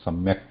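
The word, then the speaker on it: सम्यक्: we are right samak when you say samak yes we are pronouncing it however note that at the end when we say samak there is element of there added is short it is not a complete uh very little amount of a has to be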